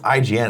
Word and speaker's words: IGN: like that's how it is then people go Egon and people that know it's IGN and they'll never know just like gif and